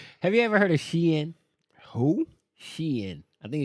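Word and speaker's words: Shein: see what happens see who knows that is pronounced Sheen okay s-h-e-i-nounced sheen sheen my bad my bad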